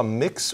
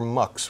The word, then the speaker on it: Mx: How do you pronounce MX? I believe I saw mix or mux were the two examples I saw.